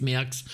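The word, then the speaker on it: Maax: Alors ça s'écrit M2AX, mais ça se prononce Méax.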